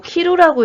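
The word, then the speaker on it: 着る: 요 한자가 요거 키루라고 읽으면 옷을 입다고요. 츠쿠라고 읽으면 도착하다예요.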